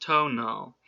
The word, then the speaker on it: tonal: mexico i knew that the tonal pronounced tonal was thought to be